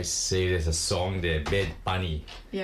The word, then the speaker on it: Bad Bunny: Bad Bunny. Bed bunny. Like bed. B A D. Bed bunny. Bunny. Bunny. Yeah. Bed bunny. Okay. Let me see. There's a song there. Bed bunny.